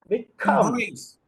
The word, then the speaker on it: embrace: what is Rule two rule two says any word with two syllables if the word is a verb verb that was noun adjective this is verb in verb put pressure on the second syllable okay so repeat after